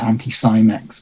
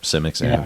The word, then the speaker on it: Anti-Cimex: So I think, I've always said it Anti-Cimex. But, Cimex, Simics, who knows? So I'm bad at Swedish pronunciation, so.